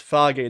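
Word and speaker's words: Fage: ] I mean so it's pronounced foggy not phage right it's like like Father oh I see I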